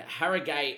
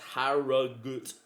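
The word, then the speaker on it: Harrogate: And Harriate is pronounced Harut.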